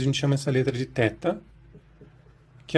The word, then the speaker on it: theta: É possível também no grego antigo pronunciar esse teta como theta. Alguns professores preferem pronunciar assim, e essa era tradicionalmente a pronúncia erasmiana também.